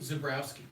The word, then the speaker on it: Zebrowski: And how do you pronounce it? Zebrowski? Zebrowski.